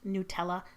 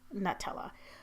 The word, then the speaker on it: Nutella: The reason I say Nutella is that on the Nutella website, there's a frequently asked question section, and right in there it says it's pronounced Nutella, not Nutella.